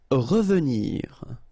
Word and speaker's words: revenir: Revenir, okay? Remember that E is pronounced really like E.